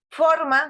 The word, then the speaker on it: forma: Forma, supongamos. Forma, ¿dónde lleva la fuerza, la entonación ahí? ¿En qué sílaba? Forma. En la primera.